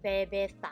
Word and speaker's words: cerveza: learning a new word, sebecer. It's actually pronounced, okay, I'll put it here. It's actually spelled. Another way of pronouncing it is bebeta. So there are different ways of pronouncing the C letter.